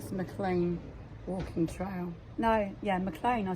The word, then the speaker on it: Maclean: No, yeah, Maclean, I said it right.